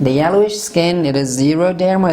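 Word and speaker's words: xeroderma: means yellowish skin the yellowish skin it is zero therma it's not x0 derma so x but what time do you pronounce it x like when we use x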